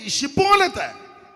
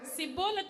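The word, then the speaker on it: Shibboleth: അതുകൊണ്ട് 'ഷിബ്ബോലെത്ത്' എന്ന് പറയാൻ ആവശ്യപ്പെട്ടാൽ അവർക്ക് മനസ്സിലാകില്ല, ഉടനെ... 'സിബോലെ' എന്ന് പറയുക. 'സിബോലെത്ത്' എന്ന് പറയുക. അങ്ങനെയാണ് കുഴപ്പങ്ങൾ തുടങ്ങുന്നത്.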